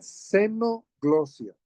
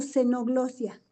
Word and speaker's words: xenoglosia: ¿Es sí, tenoglosia o xenoglosia? seno se escribe X, Con Ah, H, X. es Xeno, seno, glosia. ajá, es con X, genoglosia.